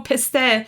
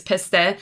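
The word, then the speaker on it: پسته: So I think pistachios is pretty much one of those soghati that is like, oh, piste, that's how you say it in Farsi, is piste, is always like such a treat to get when someone goes.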